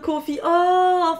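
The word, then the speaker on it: Coffey: verte je t'aime déjà ça s'écrit comme le confie mais ça se prononce pas pareil non ça se prononce comme le café mais ça s'écrit pas pareil ah oui alors je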